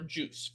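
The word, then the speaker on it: Guice: He goes by the name of Darius Geis, or Juice for those who don't know how to pronounce it properly.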